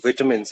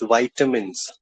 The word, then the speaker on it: vitamins: It's not vitamins. It's vitamins.